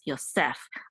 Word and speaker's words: Yosef: So the accent is at the end. It's Yosef. Unlike in English, the accent is on the first syllable, Joseph. We say Joseph, but in Hebrew we say Yosef.